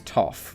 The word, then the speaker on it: Toph: Her name is Toph, by the way. As in from Avatar. My name's Toph. It rhymes with tough.